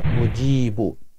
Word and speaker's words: মুজিব: গুণবাচক গুণবাচক নাম বেশি বেশি পাঠ করবো ইয়া মুজিব সহি শুদ্ধ করে ইয়া মুজিব বলবেন না যা উচ্চারণ করবেন না জিম উচ্চারণ করবেন ইয়া মুজিব